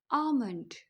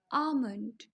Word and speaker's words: almond: English में कहते हैं आमंड आमंड अब इसको बोलते हुए आप कंफ्यूज नहीं होना बहुत ही सिंपल है एल हमारा यहां पर साइलेंट है आप इसको सिंपल टू पार्ट्स में डिवाइड करेंगे आमंड आमंड तो नेक्स्ट टाइम